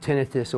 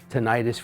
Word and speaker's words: tinnitus: and your ears is called tinnitus or tinnitus regardless of how you pronounce it it's still an